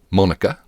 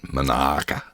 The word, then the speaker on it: Monica: Uh, I have since found out that this place is called Monica, not Monaka, as our Aussies would say.